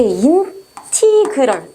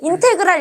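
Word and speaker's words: integral: 그리고 이것도 낮때는인 선생님들 모든 선생님들 인테그랄이라고 발음을 했어. 그래서 얘를 인테그랄 인테그랄 했는데 너희 때 이제 가르칠 때는이 발음을 인티그럴로 어 가르치라고 하거든. 그래서 많이 바뀌었어요. 인티그럴 이렇게 읽어 주시면 돼요.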